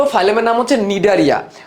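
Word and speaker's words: Cnidaria: কি নিয়া নিডারিয়া নিডারিয়া এখানে একটা সাইলেন্ট সি আছে রাখতে হবে বানানের মধ্যে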